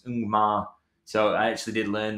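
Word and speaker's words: Ngumoha: So we're talking about pronunciations. I watched a Chelsea TV commentary, and apparently that one's Ungmar.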